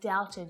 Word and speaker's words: doubted: B can be silent when it's before a T as well.